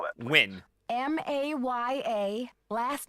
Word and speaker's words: Nguyen: spell that, please? Win.